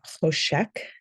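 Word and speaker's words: חושך: word Darkness in Hebrew uh hosek is I think how you would pronounce it the um Hebrew letter here chat is a guttural sound and English doesn't have a good guttural sound we don't have a letter for that so um some English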